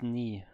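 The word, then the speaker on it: 네: I wanted something translated, so I used Google Translate and it put out this ne. Ne, ne, ne. So I was a bit confused, but yeah, I can. Ah, pronounced knee.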